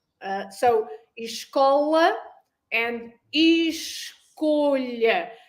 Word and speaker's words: escola: There is also a slight difference in the O. Do you notice the slight difference on the pronunciation of the O? Escola. Yep. Remember the O. We did with the O and the O. Open your vowels. Escola with O. And then esco, like a vo.